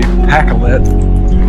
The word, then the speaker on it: Pacolet: That I believe that I know the correct way to say PAK-let.